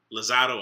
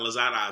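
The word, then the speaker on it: Lozada: paula um evelyn lazar lozado i'm pretty sure it's lozado i'm pretty sure it's not lazada so zado if i said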